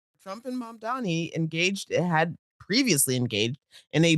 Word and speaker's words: Mamdani: and it covered both Mandami. I keep saying it wrong. Mamdani and uh, uh, Taylor Green, Marjorie Taylor Green.